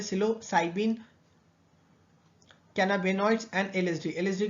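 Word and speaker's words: psilocybin: ठीक है, जैसे इसके एग्जांपल में होता है मैस्कलीन, सिलोसाइबिन, ठीक है, पी साइलेंट है, सिलोसाइबिन, कैनाबिनॉइड्स एंड एलएसडी।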